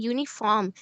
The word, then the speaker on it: uniform: So we'll be using a because it starts with uni it the pronunciation is university and uniform and the sound is starting from uh y basically.